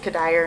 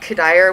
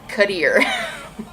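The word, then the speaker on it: Cuddyer: not a baseball fan I think he said cuddier Michael cuddier something like that oh he just really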